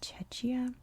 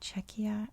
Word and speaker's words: Czechia: i feel so bad i mispronounced the name of the country in my video i said chechia and i literally didn't realize until like the day after that it's totally czechia and i must have been